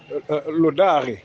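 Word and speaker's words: laudare: En ce qui concerne le verbe louer, louer est d'origine latine aussi, c'est lodare. Lodare, lodare s'écrit avec L-A-U-D-A-R-E, lodare, qui veut dire faire l'éloge.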